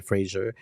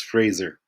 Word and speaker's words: Fraser: an associate professor of global communication at Simon Frasier University I was told that it's not the right pronunciation Frasier is that true that is that is correct that it's not true it's it's Fraser Fraser Fraser the show apologies.